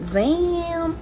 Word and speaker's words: Zam: I'm gonna grab this glitter shade called Zam. Yeah, it's supposed to be pronounced that way.